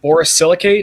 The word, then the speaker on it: borosilicate: Look up the price of, what was it, borosilicate? Is that how we pronounce it?